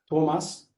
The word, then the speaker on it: Thomas: Yes, I think a little bit too much emphasis on the third syllable in the first name. Thomas Thomas.